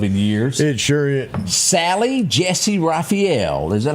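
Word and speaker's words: Sally Jessy Raphael: Sally Jessie Raphael.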